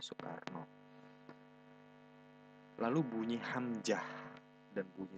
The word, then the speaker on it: Soekarno: ejaan Suwandi ini, seperti huruf OE yang diganti dengan pelafalannya U, jadi tidak lagi Soekarno tapi Soekarno.